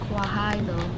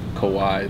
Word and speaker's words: Kawhi: No, it's Kawhi though. Kawhi though, isn't that's mean? Not fair. What's that mean? Even mean? It's a guy's name. His name's Kawhi Leonard. That's how you Kawhi pronounce though. It. And the though is just like though.